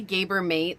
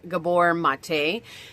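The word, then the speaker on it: Gabor Maté: long ago, and I I say Gabber Mate, like that's how I say his name, but I guess I heard it was Gabbor Mate.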